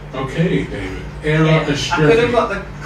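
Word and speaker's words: Era Istrefi: How do you pronounce her name? I'm not even going to try. I remember that. Era Estrefi. Okay, David. Era Estrefi.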